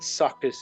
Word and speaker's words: Sukkaz: Like suckers is spelt with 2 K's. Sukkaz, S-U-K-K-A-Z. Yeah, with a Z.